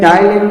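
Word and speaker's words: ptyalin: इसको टाइलिन भी बोलते हैं, PTAYLIN, P साइलेंट है, टाइलिन इसको बोलते हैं, इसको प्रोनाउंस करते हैं टाइलिन।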